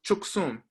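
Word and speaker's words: བཅུ་གསུམ: So examples: 13 becomes chuksum. So the kao, the prefix letter, is pronounced. Don't ask me why. It's an exception.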